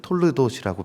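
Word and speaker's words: תולדות: 있습니다 여기선 족보 있지만 원문으로 읽으면 톨르도시라고 발음하게 되며이 톨르도스는 하나님이 세상을 이끌어가는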